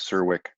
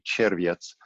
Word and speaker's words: Czerwiec: My name is Czerwiec. That's the Americanized, bastardized pronunciation. It's actually Czerwiec.